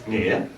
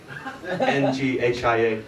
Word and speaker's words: Nghia: So my name, when correctly pronounced, is Nghia. Nghia, Nghia.